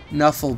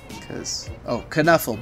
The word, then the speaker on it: Knuffle: Knuffle Bunny accepted, of course. Kuh-Nuffle Bunny, I mean.